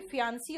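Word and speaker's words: fiancée: यहां पे फियांसी और फियांस बोलते हैं, बाकी ई का कहीं भी प्रोनाउंसिएशन नहीं आता, ठीक है।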